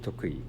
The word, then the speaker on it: Tokui: Yoshimi Tokui. Tokui. Trust my words. That's how you say it. Tokui.